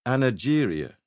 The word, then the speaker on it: anageria: The first respected doctor to give it one back in the 1890s called it anageria with a soft G.